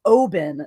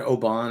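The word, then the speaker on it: Oban: scottish risky is best but it's pronounced oben that's all it's also a town we will have to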